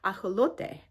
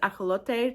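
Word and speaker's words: axolotl: Um, so the actual name is pronounced aote and we have kind of adopted that word and pronounced it in our uh in our American way. So I'm not going to go forward calling these aote to most of my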